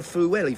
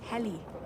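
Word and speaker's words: Pwllheli: my schoolmates used to go to Fuelli for their summer holidays. It's pronounced Peli.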